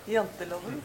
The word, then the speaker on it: Janteloven: about this concept of, I'm not going to pronounce it right, but the laws of Jenta? Janteloven.